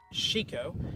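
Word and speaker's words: Chicot: Chico. It's a French word, meaning chico.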